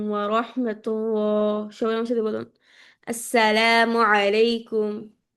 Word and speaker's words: আসসালামু আলাইকুম: আপুরা সালামের যে শুদ্ধ একটা উচ্চারণ আছে ওটা আজকে আমরা ইনশল্লাহ শিখব সবাই আসসালামু আলাইকুম ওয়ারাহমাতুল্লাহ সবাই আমার সাথে বলুন আসসালামু আলাইকুম আসসালামু আলাইকুম আসসালামু আলাইকুম আসসালা হচ্ছে